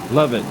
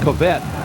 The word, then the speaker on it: Lovett: That's Clint, and I believe it's Lovett. Lovett is the quarterback. We've been pronouncing it as Covette.